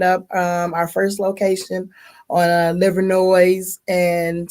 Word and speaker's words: Livernois: That's how you know you're from Detroit, because you pronounce the S. Everybody knows Livernois, but if you're from Detroit, you got to say Livernois. You got to say it.